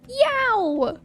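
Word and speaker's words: Yeowww!: It's by the brand Yow. That's how that's how it's spelled. It's spelled like ye eo www. exclamation point.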